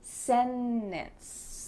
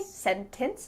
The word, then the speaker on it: sentence: In these words, the T is just gone. So here we have an NT, usually plus a vowel, and you're gonna say sentence. You can say sentence with a T, it's fine, but you're gonna hear native speakers when we're speaking quickly, you're gonna hear us completely cut out that T.